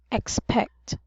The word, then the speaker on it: expect: uh expect very good both of the syllables should use short e which is e expect expect very good and how about